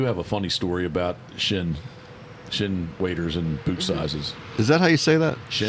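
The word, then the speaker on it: Chene: I do have a funny story about Shin Shin waiters and boot sizes. Is that how you say that? Shin.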